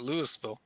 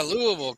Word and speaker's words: Louisville: well early in an early video Mr Ed was calling it Lewisville Le he I noticed in the video I watched today hey he was said it's in Louisville and then they yeah Louisville they kind of made a big deal about him saying it correctly I just I just